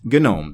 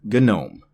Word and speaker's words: GNOME: everything else that I may or may not pronounce correctly. GNOME. It is, in fact, GNOME. The desktop environment is called GNOME.